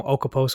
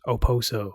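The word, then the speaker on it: Okposo: Yeah, I used to call him Okaposo all the time. Wait, what is it again? Okaposo? That's how you would think it is. You pronounce it. It's Oposo. Oposo. Yeah, the K is silent.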